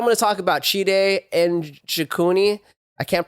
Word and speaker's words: Njokuani: First fight I'm going to talk about Chidi Njokuani. I can't pronounce his last name. I know the N. It's you say it by itself, so it's Njokuani. I believe is how you say it.